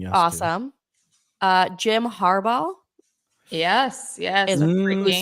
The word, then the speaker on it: Harbaugh: saying yes awesome uh Jim Harbaugh yes yes give that one more go can we get har harb Jim harba yeah harba they say he's going to be